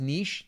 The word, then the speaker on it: niche: of them that says Niche then that's fine Niche Niche n uh I like Niche because it rhymes with uh rich riches riches are in